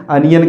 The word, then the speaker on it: onion: ही हैं ठीक है इसको अब आपको कभी भी ओनियन प्रोनाउंस नहीं करना है इसको आपको हरदम कैसे करना है अनियन कहना है तो कभी भी आप अनियन नहीं क्या बोलोगे अनियन बोलोगे समझ गए यह रहा पहला